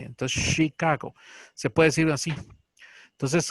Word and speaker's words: Chicago: Nosotros en español, Chicago. Así va. No, en inglés es un poquito más suave. Chicago. Es como la che también suena como che, pero es como un poquito jalando la S. Entonces, Chicago.